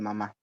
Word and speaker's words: mamá: Si es una unidad organizativa, pongámosle mamá. Ya, va el acento en la, ¿cierto? Mamá.